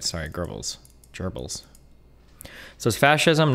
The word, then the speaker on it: Goebbels: It's pronounced Goebbels. Oh, you're right. Sorry, Goebbels.